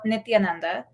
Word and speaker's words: Nithyananda: the cult of this fraud who calls himself nithyananda um is that that's how you say it